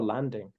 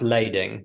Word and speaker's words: lading: promissory notes bills of is it bills of lading or Landing I believe is is pronounced lading yeah ship delivery orders